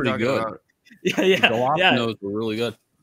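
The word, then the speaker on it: jalapeño: The jalapenos were really good. Yeah, we call them jalapenos. When I heard it, was like, what the hell? Jalapenos? No, we call them jalapenos here.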